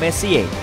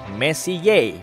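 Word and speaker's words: Messier: M adalah singkatan dari Messi diucapkan Messi Ye bukan mess yang artinya lebih berantakan Charles messie persisnya adalah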